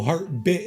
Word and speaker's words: Heartbit: I just pronounced the word wrong the first time. It's Heartbit Interactive, and I'm in Heartbit Interactive's Discord.